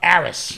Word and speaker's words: Aris: stuff our girl uh aris yes rhymes with paris right she's in four